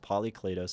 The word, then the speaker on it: Polykleitos: Man, I pronounced Polykleitos and histrionic correctly, and then I stumbled on theatrical.